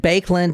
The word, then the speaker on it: Baekeland: related per se to the bands but and bakeland is spelled b a e k e l a